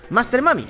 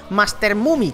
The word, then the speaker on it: Master Mummy: cero Master mami qu Por cierto se pronuncia Master mami no se pronuncia Master mumi como me decí mucho al